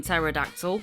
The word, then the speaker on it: pterodactyl: There's a silent P in pterodactyl.